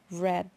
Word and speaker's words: read: pasado participio de read se escribe igual pero se pronuncia diferente red nos dice yo en